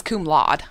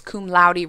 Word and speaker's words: cum laude: I thought it was cum laude, That's what I thought. Yeah. Cum laude. but apparently it's cum laude rhymes with rowdy.